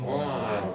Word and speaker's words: boron: Boron. Boron. Rhymes with Oh, yeah. moron.